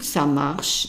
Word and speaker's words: ça marche: And pronunciation-wise, it's easy because M-A, it's an ma, because the A is an A in French.